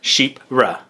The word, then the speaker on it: Chypre: Chypre, pronounced sheep. Chypre. Ra.